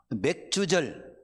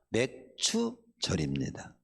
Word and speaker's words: 맥추절: 맥주절 발음을 정확히 맥주가 아닙니다. 맥추예요. 추 보리맥자에다가 거둘 추자를 쓰는 거예요. 응. 그래서 글자가 밀과 보리를 거두면서 하나님께 감사 예배를 드리는 절기가 맥추절입니다.